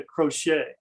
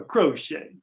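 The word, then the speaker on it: Croce: and it's the uh i'll try to pronounce it in italian but it's the basilica de santa crochet uh a crochet if you're italian but uh it's uh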